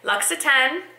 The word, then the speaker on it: Luxe: and did ask them, how do you pronounce the name of your company? Luxe, and this is the Almond shower oil.